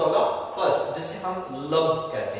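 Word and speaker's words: lub: क्या नाम देंगे, लब, एज प्रोनाउंस्ड एज लब।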